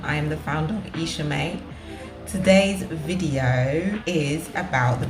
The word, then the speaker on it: iisha: So the name is iisha. It's spelled I-I-S-H-A, Isha, and then May, M-A-E.